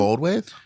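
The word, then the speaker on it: Goldthwait: Goldwave is like directing or directed episodes of Aging and the Queen.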